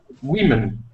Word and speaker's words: women: In this case, the O is pronounced like I, women. Yeah, exactly. So the way you're saying it is more accurate, and it's not woo.